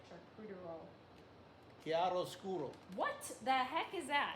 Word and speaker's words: chiaroscuro: Chiaroscuro.